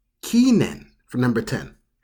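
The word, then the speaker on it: 記念: So for this one, you pronounce this as kinen. Kinen for number 10. Kinen.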